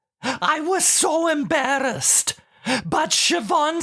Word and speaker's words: Siobhan: And she said, "Actually, it is pronounced Siobhan."